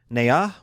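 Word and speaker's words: Nhạc: Led by the eldest brother, Nha, which is spelled N-H-A-C.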